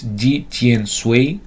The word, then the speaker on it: Di Tian Sui: Di Tian Sui, Ani translated, pronounces this Di Tian Sui, said to be authored in Song Dynasty, 10th